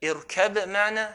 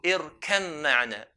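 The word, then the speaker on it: ارْكَب مَّعَنَا: Irkab ma'na, how do you pronounce? We merge the ba onto the mim. So irkam ma'na. Irkam ma'na. Why?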